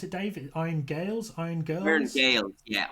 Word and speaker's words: Gaels: What does iron and how how do you pronounce it Dave? Iron Gales.